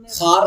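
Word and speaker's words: خوار: मादूला का मतलब होता है साइलेंट, यानी लिखा जाए पढ़ा ना जाए। जैसे ख्वाब हो गया, खार हो गया, ये सब में वाव लिखा तो जाता है लेकिन पढ़ा नहीं जाता, इसलिए वाव मादूला है।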